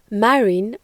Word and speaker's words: marin: In French, marin, or marin as we pronounce it, is the literal translation of sailor.